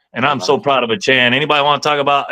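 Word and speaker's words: Achane: give me okay well that's how you pronounce pronounced a Chan yeah CH if anybody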